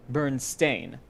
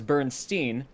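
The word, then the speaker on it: Berenstain: this one is yes so the correct spelling is b-e-r-e-n-s-t-a-i-n burn stain but because everyone you know everyone it was pronounced as bernstein everyone thought that it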